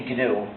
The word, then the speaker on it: GNU: know how to pronounce GNU the correct way when it's the animal. But when it's the name of our system, the correct pronunciation is GNU, pronounce a hard G.